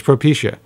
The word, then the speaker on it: Propecia: It's Propecia, like alopecia.